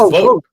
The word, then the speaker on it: Vought: I didn't know until I read his article that it's pronounced Wait, who? Vogt, not Vought. Yeah, it's Vogt. Vote.